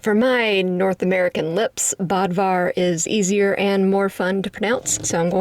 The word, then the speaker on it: Bödvar: wave and that is Bodvar the bear. Actually, I think his name is pronounced more like Budvar because it's spelled with an umlaut. But for my North American lips, Bodvar is easier and more